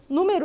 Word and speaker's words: número: a professora já vi número não é uma paroxítona número é uma proparoxítona porque a terceira sílaba